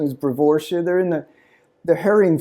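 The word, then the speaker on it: Brevoortia: Uh the the pronunciation is brevoria.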